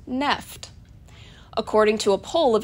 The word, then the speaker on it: NFT: to be correctly pronounced NEFT. According to a poll of at least 10 staffers at The Verge online publication, they agreed on this one-syllable pronunciation, which fits perfect with